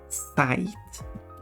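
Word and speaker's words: sajt: way another word in Swedish is using word site it's spelled like that it's pronounced site site now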